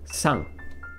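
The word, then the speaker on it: 三: lines it means three and that is pronounced as sang right here you should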